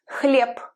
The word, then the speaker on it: хлеб: For example, in the word bread, хлеб. It's written as h, l, ye, b at the end, but we pronounce it as p, as its devoiced partner.